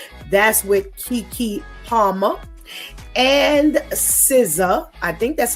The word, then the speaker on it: SZA: That's with Keke Palmer and SZA. I think that's how you say her name. Yes. Is that correct? SZA, yes.